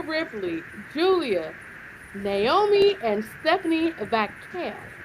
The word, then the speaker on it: Vaquer: Alexa Bliss, Roxanne Perez, Rhea Ripley, Julia, Naomi, and Stephanie Vaquer. Gotta roll your eye to say her name is Vaquer.